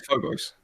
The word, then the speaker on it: Phobos: on on Phobos um which could be a British way to pronounce Phobos for all I know um no I learn it it's Phobos oh okay got it it sounds like if you say Phobos with a British accent or fobos um so after we